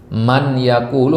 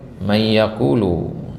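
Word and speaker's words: مَن يَقُولُ: Ya, semisal pada ayat wa minan nasi man yaqulu. Nah, di situ dibacanya apa? Ya, idgham enggak di sini? Man yaqulu atau may yaqulu? May yaqulu.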